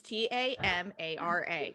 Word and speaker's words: Tamara: who in my head her name is pronounced tamara it's t-a-m-a-r-a right i'm super literal it's tamara um a lot of